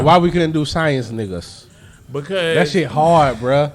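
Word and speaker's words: Negus: Yeah, it's it's spelled like the- N-E-G-U-S, right. like the king.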